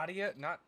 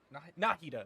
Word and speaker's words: Nahida: Nadia? Nahida, that's how you say it.